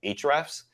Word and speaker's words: Ahrefs: but then we used another tool called hrefs uh it's spelled out like the HTML code ahrefs hrefs what is showing